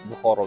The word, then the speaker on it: Bukhara: Yes, Bukhara we pronounce.